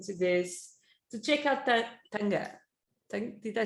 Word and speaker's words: Taga: So it's Taga, but it's pronounced Taga. So it's like there's a little N in there, And the last name is Iose, and it's pronounced Yose.